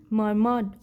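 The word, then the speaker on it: murmured: ही मर्मर्ड ग्लूमली, तो ही यहाँ पे आर साइलेंट होता है तो इसे पढ़ते हैं मर्मर्ड।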